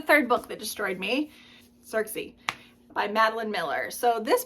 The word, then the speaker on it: Circe: so this book actually I think we're all saying her name wrong by the way I think in Greek there is no s sound with a c I think it's with a c so I think her name is kiry kiry something like that